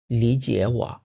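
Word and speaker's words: 理解: এই যে হ্যাঁ প্রথম এখানে কিন্তু আমাদের দুইটা থার্ড টোন আছে কিন্তু আমরা দুইটা থার্ড টোন উচ্চারণ করবো না প্রথমটাকে কি বানিয়ে ফেলবো সেকেন্ড টুন এভাবে বলবো লিজিয়া লিজিয়া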